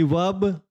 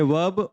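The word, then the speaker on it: verb: आ गया consonant sound तो यह आर क्या हो जाएगा साइलेंट हो जाएगा यह बोला नहीं जाएगा हम इसको कहेंगे वक तो लेकिन अमेरिकन जो इंग्लिश है या अमेरिकन लोग है व इस आर को बोलते हैं भाई वह ब्रिटिश जो लोगों से इस चीज में क्या है अलग है जो ब्रिटिश लोग है वह कहेंगे कि वर्ब जो ब्रिटिश लोग है वह कहेंगे वर्ब और जो अमेरिकन लोग है वो कहेंगे वर्ब तो इस कंफ्यूजन को आप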